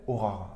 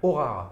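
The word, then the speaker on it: Horare: Aurare, avec un H au début. Aurare. Ouais, voilà. H-O-R-A-R-E. Exactement. Voilà, comme ça se prononce, les amis.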